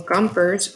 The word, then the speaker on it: Gompers: can put a mule Gompers rhymes with jumpers that's all those working